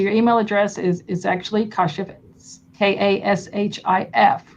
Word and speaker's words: Kashif: My first name is pronounced as Kashif, but I go by Kash.